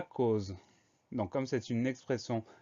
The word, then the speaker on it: cause: Ensuite, on a le son Z qui s'écrit avec un S, puisqu'il est entouré de part et d'autre de deux voyelles.